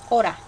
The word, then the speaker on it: hora: And then I guess a way you could remember is when you say hour here, there's an H, but you don't pronounce it. It's the same. Hora.